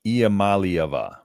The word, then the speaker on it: Iamaleava: Iamaleava.